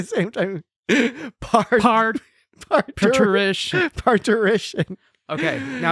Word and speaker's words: parturition: you how do you think it's said Jesse parition sure I mean when he says it it sounds I think so uh yes parition uh Jess J Jesse pronounced it correctly Star Trek parition it is